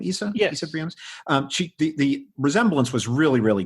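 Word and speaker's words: Isa Briones: Issa Briones?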